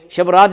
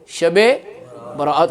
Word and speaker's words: شب برات: بھی تصدیق کریں گے، شب رات اس میں پڑھ ہی نہیں سکتے، شب برات، اور یہی اس کا درست تلفظ ہے۔ برات کا مطلب ہے